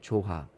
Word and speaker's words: JOHA: So that is like the spelling is kind of different, but the way you express and you pronounce the word is the same pronunciation.